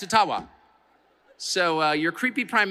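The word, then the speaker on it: Ottawa: but thank you and I I called it atawa many many times and I get these outraged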